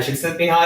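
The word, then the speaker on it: Csikszentmihalyi: would very much recommend reading flow by mihai chick sent me high and i'm going to spell that because it's hard to pick out it's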